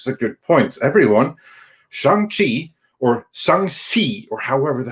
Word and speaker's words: Shang-Chi: So no, it's like Shang-Chi or something like that. That's how it is supposed to be pronounced. And for all of you that said Shang-Chi or Shang-Chi or some variation thereof, you all need to do better.